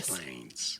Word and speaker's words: Des Plaines: Des Plaines.